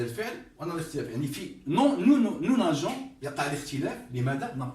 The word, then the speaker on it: nageons: نقول نو إذا جئنا فقط هكذا وضعناه هكذا هذا لا يصح، تصير نو ناغون. لابد أن نضع الأو، نو ناجون. إذا لم نضع هذا الحرف لافويل هذه لا تنطق جي، تنطق جي، تصير نو ناغون، هذا غير صحيح.